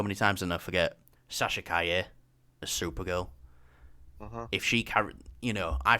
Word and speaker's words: Sasha Calle: You know, I finally found out how to pronounce the name as well. I've heard it so many times and I forget. Sasha Calle as Supergirl.